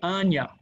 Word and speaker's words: Anja: to meet us tomorrow her name is anya that's how you say it up in polish the j sounds like a y so it's like anna we could say anja